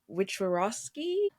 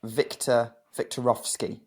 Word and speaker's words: Wiktorowski: Wiktorowski? I said it wrong. It's kind of like Wiktorowski. So like the Wiktorowski. W Okay. sound like V's.